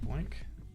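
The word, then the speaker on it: BOINC: a specific Minecraft seed using the Boink network, pronounced like Boink.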